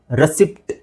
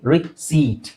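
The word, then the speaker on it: receipt: miss pronounce ಮಾಡ್ತಾರೆ ಹೇಗೆ ರೆಸಿಪ್ಟ್ ಅಂತ ಹೇಳ್ತಾರೆ ರೆಸಿಪ್ಟ್ ಓಕೆ ರೆಸಿಪಿಟ್ ಅಂತ ಹೇಳಂಗಿಲ್ಲ ರಿಸೀಪ್ಟ್ ನೋಡಿ ಸಿಂಪಲ್ ಆಗಿ ರಿಸೀಟ್ ಸೋ ರಿಸೀಟ್ right okay next ಇದು ಬುಧವಾರ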